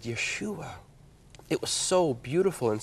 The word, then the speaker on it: Yeshua: us and that was the Hebrew is the Hebrew way to say his name and I said Yeshua it was so beautiful